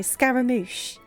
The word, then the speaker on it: Scaramouche: not against it um did I pronounce it right though Scaramouche okay and then we need capitals that is how you pronounce it awesome okay I don't